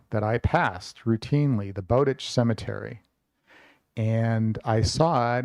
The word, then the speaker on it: Bowditch: Howard about it and I think he must be pronounced uh bowditch not bowditch so and the funny